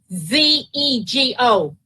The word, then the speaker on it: Vanzego: Vanego? Okay. Is it Vanego? It's Vanzego. Okay, I'm sorry. It got recorded here kind of incorrectly.